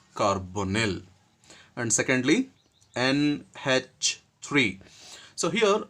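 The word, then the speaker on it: carbonyl: So in that the very first one is CO that is carbon monoxide and this is supposed to be pronounced as carbonil. We should pronounce the carbon monoxide liant as carbonil and secondly NH3.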